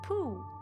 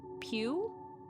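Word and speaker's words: Puu: Pooh, not Pew. Pooh. Lord Pooh. So it's Lord Pooh.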